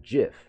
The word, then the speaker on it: GIF: turn to argument the creative gift pronounces it jiff yeah that is a weird thing I've always I think I'll just call it a gift firm forever always called it jiff because the Creator CAW says Jeff yeah but it's